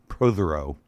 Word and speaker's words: Protheroe: Protheroe. Did I say it right? Yeah, you certainly did. I did? Close enough, or actually right? Very close. Very close.